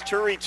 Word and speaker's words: Turi: It's Turi rhymes with hurry, and that's what he does as soon as the ball's snapped.